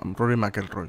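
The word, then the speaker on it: Rory McIlroy: mcelroy eh Eh sí r rory mcelroy sí creo que se pronuncia así pga tour luego de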